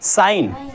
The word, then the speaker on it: sign: Gent नहीं पढ़ेंगे, क्या पढ़ेंगे नेट, जी हमारा साइलेंट होगा। इसी तरीके SIGN, जी की आवाज़ हमारी नहीं निकलेंगी, इसको क्या पढ़ेंगे साइन, क्या पढ़ेंगे साइन, और इसको क्या पढ़ेंगे नेट,